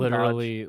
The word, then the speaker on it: Dodge: So starting with Best Voice Artist Performance English, we got Lucian Doge, I don't know, however the It hell you want to pronounce it, but Dodge, Lucian Dodge, literally spelled like Dodge.